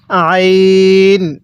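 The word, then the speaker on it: عين: তাহলে আইনটা পড়ার সময় গলার মধ্যে চাপ দিয়ে পড়ব। পড়ুন আইন। হ্যাঁ, আরেকবার পড়ুন আইন।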